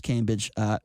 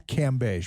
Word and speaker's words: Cambage: be looking at Liz Cambage. I'm going to watch her with her clothes off. Oh, and it's Cambage, Brian. Cambage. I'm sorry, I pronounced her name wrong.